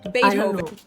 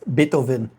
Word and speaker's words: Beethoven: The V in his name is pronounced the same as an F sound.